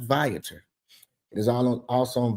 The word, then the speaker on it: Viator: It is also on, I've been pronouncing it Viator, but it's actually pronounced Viator. It is also on Viator.